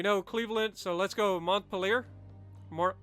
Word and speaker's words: Montpelier: We know Cleveland, so let's go Montpelier. Or Montpelier, depending on who you talk to. Montpellier. I know that's the other way. That's probably how it's pronounced.